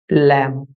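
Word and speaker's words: lamb: এখানে be silent সঠিক উচ্চারণ হল ল্যাম।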